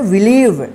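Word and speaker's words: believe: ई इसको क्या पढ़ेंगे बिलीव ठीक है तो आप ध्यान रखिएगा कि जब किसी वर्ड में आई ई एक साथ रहे या ई आई एक साथ रहे तो उसका उच्चारण ई होगा ठीक है चलिए नेक्स्ट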